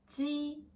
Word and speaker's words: ji: First, ji, ji. Watch my mouth. Ji, ji. This pronounce sounds like ji in jeep.